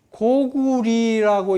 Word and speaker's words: 高句麗: 레로 읽지 말아라. 리로 읽어라. 근데 어찌하여 우리 학자들은 이걸 모르고 리어라고 읽는 거예요.